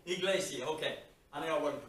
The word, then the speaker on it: Iglesia: And I'm not sure how they pronounce it. Iglesia? Iglesia. Iglesia. Iglesia, okay.